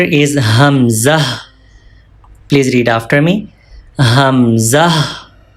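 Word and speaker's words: همزة: farthest part of throat, and Hamza pronounced from lower part of throat. From here, Hamza. One more time. Hamza pronounced from throat.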